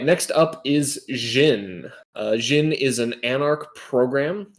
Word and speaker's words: Djinn: which by the way i'm pretty sure it's pronounced jin and najin but i